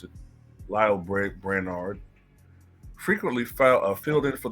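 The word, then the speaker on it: Lael: As Biden's health declined, senior advisors like Jake Sullivan, Steve Ricchetti, and Lyle Brainard, that's how you pronounce it, Lyle Brainard, frequently filled in for the president during important interactions.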